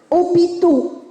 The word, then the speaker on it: hôpitaux: un nom au pluriel hôpitaux hôpitaux hôpitaux aux accents circonflexes pays qui a six hôpitaux je valide il y est hôpitaux s'écrit avec un h muet h aux accents circonflexes